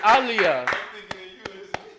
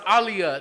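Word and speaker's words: אֵלִי: room he's a hint how do you say my god in ancient Hebrew huh no it's alah give give Mali here he got that it's Alia you say it's aliia that's how you say um um in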